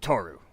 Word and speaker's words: Toru: different part of the page I am called Toru how do you spell that you are T at T oh are